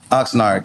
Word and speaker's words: Oxnard: How you pronounce it? Oxnard.